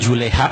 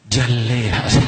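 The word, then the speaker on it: جلاها: Bukan juleha, Bu. Jaleha.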